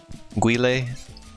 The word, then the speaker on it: Guile: I never know how to pronounce that character's name. Guile? Guile? Guile?